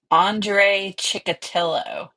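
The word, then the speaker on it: Andrei Chikatilo: I'll pronounce it. It's Andre Chikatilo.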